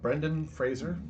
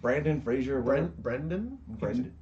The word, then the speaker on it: Brendan Fraser: Brandon Fraser? Brendan Fraser.